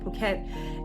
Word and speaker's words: Phuket: he's actually the one who told me that Phuket is pronounced Phuket and not Phuket then there was